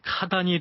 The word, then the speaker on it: 카단: 제국의 장수였던 사람의 이름입니다 몽골식 발음으로는 카단이 되는데요 이전에 반란을 일으켰던 나연도